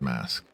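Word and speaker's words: masque: I think that would be pronounced mask. M A S Q U E We got these.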